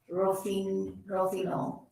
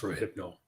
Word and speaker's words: Rohypnol: Rofino. That would be pronounced Rohypnol.